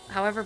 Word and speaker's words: herb: brighter working on it british pronounce the h okay herb chasing fireflies is always